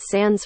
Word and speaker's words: sans: To address some of the comments, I pronounced it sans French accent.